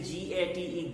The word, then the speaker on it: gate: words like this gate when you say g-a-t-e gate the e at the end is not pronounced but the air between g and t is pronounced with two vowel sounds gate sail fate these